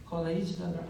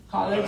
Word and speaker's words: collage: And yeah, I think that's why I with these voices, collages, how to say it? college.